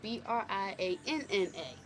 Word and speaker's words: Briana: n a Bri Anor Anna by itself is with one n but Bri Anna together Brian that's my name